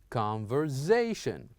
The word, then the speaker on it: conversation: And the last one, here we have S and A. We would use it as Z. So we would say conversation, conversation. So I repeat those words again.